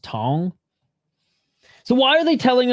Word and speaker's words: Cong: The name isn't pronounced as it's spelled. And nice kick to the body. It's pronounced Tong.